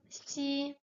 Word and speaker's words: 西: It's not X like in English. It's S. It's an S sound like the S, but it's a bit more wet, sibilated, because it's not pronounced with the point of the with the tip of the tongue up, but also a bit of the middle part of the tongue is raised. So it's wetter because the middle part of the tongue is wetter than just the point. So it's xi.